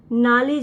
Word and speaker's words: knowledge: कि आपका ज्ञान है के साइलेंट रहता है एन ओ को नौ एन जो और डब्ल्यू का जो साउंड होता है आ तो न एल ई को ले पढ़ा जाएगा और डी जी कहीं